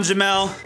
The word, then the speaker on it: Jamal: Yo, everybody, I'm Jamel, spelled Jamal, pronounced Jamel.